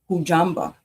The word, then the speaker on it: Hujambo: Next, we have a greeting in Swahili, East Africa, and it's pronounced Hujambo, meaning hello, how are you?